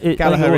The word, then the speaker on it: Gallagher: Gallagher is actually how it is pronounced in Manchester.